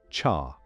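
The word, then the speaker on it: 茶: In Mandarin Chinese, the word is pronounced roughly like cha.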